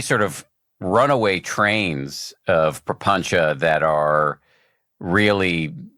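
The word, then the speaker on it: prapañca: I have often said prapancha. It sounds like that difference between Pali and Sanskrit, which are very close. I love the term prapancha or papancha, however you want to pronounce it or spell it.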